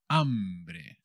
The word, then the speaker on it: hambre: bird jandri tener hambre hambre tener hambre el apetito el hambre con la h que no se pronuncia que como siempre es muda with feeling hungry tener